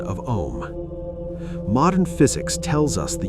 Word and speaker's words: Om: The ah sound rises from the abdomen, you feel the vibration in your belly. The oo sound passes through the throat, you feel the vibration in your chest. The m sound closes on the lips, you feel the vibration in your head.